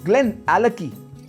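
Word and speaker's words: Glenallachie: चौथा ग्लेन एलकी, ग्लेन एलकी।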